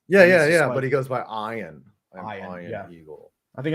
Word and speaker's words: Ian: Yeah, That it's sounds spelled like a movie Ian, like star IAN. Yeah. But he goes by Iron.